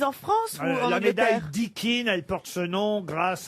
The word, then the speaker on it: Dickin: s'agit d'une récompense puisque c'est de la médaille dikin dont je vais vous parler qui récompense-t-on avec la médaille dikin Dickin ça s'écrit comment d I c K i n